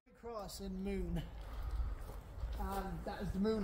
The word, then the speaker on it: Moone: It's old, it's a cross, and it's in Moone. Now, not on the actual moon. No, it's spelled M-O-O-N-E.